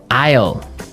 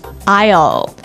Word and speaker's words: aisle: We don't pronounce the S. The S is silent.